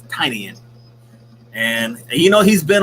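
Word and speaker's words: Tynion: name right james tinian i usually say tinian but i heard his tiny in and you know he's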